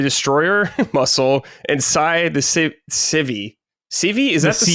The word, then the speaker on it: Syv: Hello, Barnacle Brad, Dustin, the Destroyer, Muscle, and Sai, the Civi. Civi? Is that how they say it? Syv? Okay. Yeah, like a kitchen sieve.